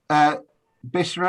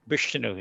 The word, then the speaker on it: Bishnu: And Bishra, have I pronounced that right? Bishnu, yeah.